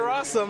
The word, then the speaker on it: Rosum: it's going over to rossum rhymes with awesome against andrews solano i